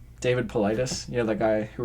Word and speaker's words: Paulides: I called him Paulides. And someone commented, because it was just up on YouTube then. Yeah. We didn't have it on like iTunes or Yeah. anything. He was like, it's pronounced Politis.